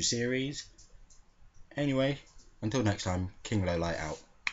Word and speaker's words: King Lawliet: That's about the first entry of my King Lowlight series. Yes, it's pronounced King Lowlight, even though it looks like King Lawliet.